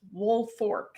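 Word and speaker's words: Woolfolk: wolfk, but it's pronounced woolfork. The last L is an R the way that they pronounced it.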